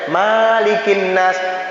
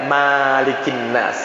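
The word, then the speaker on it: ملك الناس: Jadi nggak ada kalimat Malikin Nas, yang ada Malikin Nas, pendek mimnya, jangan panjang.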